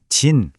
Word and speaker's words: じん: 음독 즉 소리로는 진 또는 민이라고 읽고요. 훈독 즉 뜻으로는 히토라고 읽습니다. 자, 그럼 국적을 말할 때는이 중에서 과연 뭘 써야 할까요? 오늘 우리가 집중할 발음은 딱 하나. 바로 음독인 진입니다.